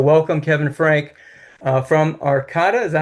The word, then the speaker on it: Arcata: So welcome, Kevin Frank, uh, from Arcata, is that how you pronounce it? We call it Arcada. Arcata, California.